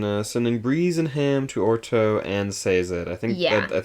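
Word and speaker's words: Urteau: yeah yeah yeah that's how they say it in the audio book is like yeah orto orto and so it's like like like or and then toe yeah uh yeah um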